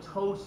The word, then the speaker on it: ptosis: This is what ptosis is. It's spelled like this, with P is silent.